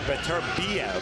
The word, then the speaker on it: Beterbiev: A fighter to watch out for is the #7 fighter, Artur Beterbiev.